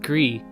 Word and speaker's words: Gris: Gree is pronounced Gris and is French for gray.